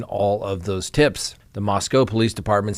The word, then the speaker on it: Moscow: of Idaho students now the Moscow Police Department not Moscow even though it's spelled that way which is leading the